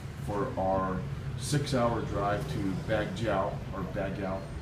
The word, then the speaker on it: Baguio: We jumped in the same car that dropped us off at the hotel, and we started off for our 6-hour drive to Baguio.